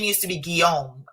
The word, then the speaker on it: Guillaume: I've never shared this, but you know, my ex-husband, his last name, my name used to be Guillaume, as in William, you know, Guillaume, G-U-I-L-L-A-U-M-E.